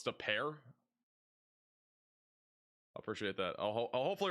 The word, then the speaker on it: De Pere: Oh, it's De Pere.